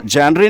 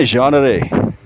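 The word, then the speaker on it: genre: ये जो आपकी लिटरेचर होती है ना जैसे पोएट्री प्रोज़ ड्रामा नवेल ये जो टाइप्स होती हैं इसको जेनरेरी नहीं कहते बल्कि बोलते हैं योनरे।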